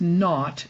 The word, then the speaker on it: naught: little circle up at the top which is pronounced not and spelled n-a-u-g-h-t it's kind of an old-fashioned word for zero